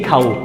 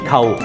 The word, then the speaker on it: 構: 個字維喺老廣州嘅發音規，佢扣、機構、結構，但係香港嘅發音呢係唔一樣，佢係讀，牛救機構結構，同呢個夠中嘅舊係一樣嘅嗱，其